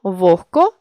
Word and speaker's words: вогко: чітко не оглушуємо їх але є 5 слів в українській мові у яких відбувається уподібнення за глухістю це легко вогко кігті нігті дьогтю у цих словах